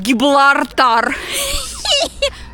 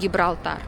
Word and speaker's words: Gibraltar: And now, tomorrow we're going to Giblartar! I know it's Gibraltar. In my childhood, when my parents took me to Spain, and we walked around Gibraltar. I couldn't pronounce the word Gibraltar, I said Giblartar.